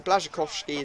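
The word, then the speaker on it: Błaszczykowski: got a goal with blazak kovski or blazak kovski I think is how the pronounce or the uh commentators say it in this game so blazak kovski is what I really should be saying um we end up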